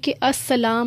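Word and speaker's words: السلام: alarm जरूर डालना है अल सलाम लिखा जाता है लैंप स्किप कर देंगे तो इस्लाम बन जाएगा जो की नहीं लिखना नाम साइलेंट है लिखा जाएगा पढ़ा नहीं जाएगा और वह नहीं डालना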